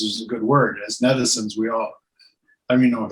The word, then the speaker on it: netizens: But netizens is a good word. As netizens, I don't even know if I'm saying that right, but as netizens, it rhymes with citizens.